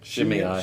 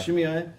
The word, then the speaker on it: Shimei: Shimei. Shimei.